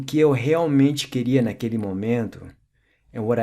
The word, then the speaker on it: realmente: If a word starts with an R in Portuguese, then it's pronounced like an H, as in realmente.